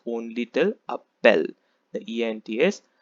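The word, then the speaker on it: appellent: l e n t but the last ent is completely silent so you need to pronounce only till a bell the ents silent second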